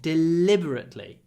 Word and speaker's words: deliberately: he deliberately deceived me here the stress is on the second syllable deliberately but we don't say deliberately deliberately we stretch the L he deliberate deliberately deliberately